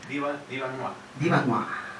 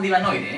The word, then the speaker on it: Diva Noire: Para la gente habla francés. Diva Noir. Pero nosotros en realidad le llamamos Divanoide, ¿eh?